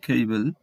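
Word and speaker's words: cable: এবার কিছু উদাহরণ দেখো, কেবল, কেবল, তো এখানে ফার্স্ট সিলেবেলের উপর স্ট্রেস দেওয়া হচ্ছে, ফার্স্ট সিলেবেলটি হচ্ছে সিএই, তাই এটি হচ্ছে খ এর কাছাকাছি উচ্চারণ হবে, খেইবেল।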